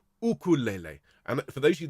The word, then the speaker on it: ukulele: the yuke it's the because the hawaiian people pronounce this ukulele and for those of